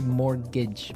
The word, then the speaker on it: mortgage: Yeah, it has a t in it, but you don't pronounce it. You say mortgage.